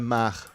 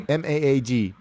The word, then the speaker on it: Maag: Yeah, but if you can watch the Maag, MAAG, write it down, get it.